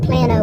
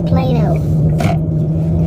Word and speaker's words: Plano: Plano and that's what how you pronounce it it's not Plano it's Plano so like I said